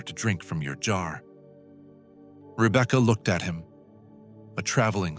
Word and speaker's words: Rebekah: Let the name arrive in you, softly. Rebekah. 3 syllables like the gentle turning of a page.